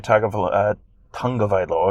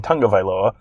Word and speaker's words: Tagovailoa: If Alabama loses this weekend, it's because Tua Tagovailoa, excuse me, let me say it correctly, Tagovailoa was injured or compromised or not 100% or out or whatever it is, and therefore it doesn't count.